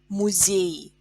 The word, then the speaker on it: музей: Музей, музей. Музей ends in y. So to make plural, we write e instead of y, and it becomes музей. Музей, музеи. Е is stressed, and in plural, е is stressed.